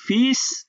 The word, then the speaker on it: fils: এই ফিস শব্দের এলটা সাইলেন্ট থাকে, ওকে, এবং এসটা উচ্চারণ হয়।